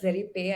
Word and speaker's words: ZerePy: and then to now ZerePy, I think ZerePy. Am I pronouncing it right? I It's would say is ZerePy or TheraPy for Python.